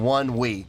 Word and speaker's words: ONEWE: name Mr clear enough the band's name is pronounced uh by mazing up the English words one and we so their name is pronounced by saying one week I I I got